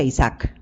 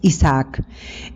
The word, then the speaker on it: Isaac: Él es el hijo es que es con doble A y no se pronuncia Isaac. Es Isaac.